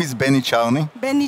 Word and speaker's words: Czarny: My name is Benny Czarny. Benny Czarny.